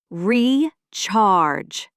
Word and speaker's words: recharge: The stress is on the second syllable. Recharge.